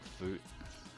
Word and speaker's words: Foot: game against clin want food i'm pretty sure it's pronounced food they are French Ligue